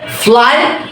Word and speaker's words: flew: সেটা হচ্ছে কিরকম, প্রথম যে ওয়ার্ড FLEW, এই শব্দটা প্রেজেন্ট হচ্ছে ফ্লাই, ফ্লাই থেকে আমরা বলি ফ্লিউ, কিন্তু ফ্লিউ না, এটা হচ্ছে ফ্লু। এই শব্দের সঠিক উচ্চারণ হচ্ছে কি ফ্লু।